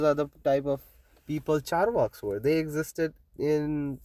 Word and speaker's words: Charvaka: the Charvak philosophy, okay, it's called Charvak. It's spelled with a C on with a dash on top. Charvaka.